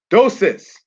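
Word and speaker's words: Deioces: Dosis, that's how they told me to pronounce it in college, of the Medes, founded Ecbatana and unified the country.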